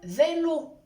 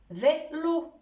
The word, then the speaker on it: vélo: Par exemple, dans le mot « blé », écoutez bien la prononciation du mot « blé ». Aussi dans le mot « vélo », vélo.